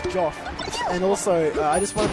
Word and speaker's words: JJF: You know, it's not pronounced JJF. That's a McCloud propaganda lie. You're JJF? Yeah, of course. It's pronounced Joff.